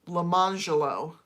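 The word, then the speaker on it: Lemonjello: named their kid spelling wise Orange Jello, but pronounced it Orangelo. And then their other child was named Lemon Jello, Lemangelo.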